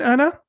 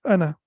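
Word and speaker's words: أنا: for the masculine in Anna alif is not pronounced so when we pronounce it we pronounce it like this like Anna like this and Hamza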